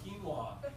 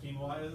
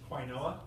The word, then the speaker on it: quinoa: has no idea what quinoa is and of the people who do know what it is half of them think it's pronounced quoa and so the only